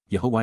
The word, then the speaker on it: Yahweh: perfect Yahweh Yahweh God's personal and proper name pronounced Yahweh H based upon haa to exist and Torah